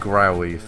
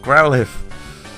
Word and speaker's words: Growlithe: things like houndare because everyone uses those and growlithe growlithe i keep i need to say it right growlithe okay anyway yeah i gave that enough chance